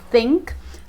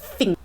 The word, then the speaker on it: think: Então, por exemplo, a palavra think, que é pronunciada com a língua entre os dentes e assoprando para fora, think, Cockney accent usa um som de F, então seria algo como think.